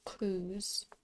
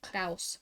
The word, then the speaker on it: Cruz: Oh, I just remembered my Twitch name is pronounced Cruz. Because I've had people pronounce it Kraus before, but it's not that, it's Cruz.